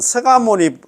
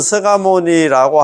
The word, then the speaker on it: 석가모니: 자 우리의 근본되는 서상은 우리의 본사 서가모니 부처님 1 발음은 서가모니 서가모 석가모니 부처님으로 석가모니 불 이래 돼 있는데